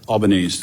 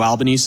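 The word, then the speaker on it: Albanese: for your testimony uh Mr albanes did I pronounce that correctly yes thank you you recognized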